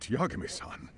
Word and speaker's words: Yagami-san: But Yagami-san... See, that's how you say my name.